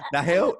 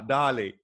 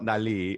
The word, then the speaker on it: Nahli: Nahil? Nah, Nahli. Nahli. Nahli. Have you learned from that then? Say like just to like a little voice note saying like, this is not how you pronounce my name. It's actually Nahli. FYI. FYI, not Nahli. It's Nahli.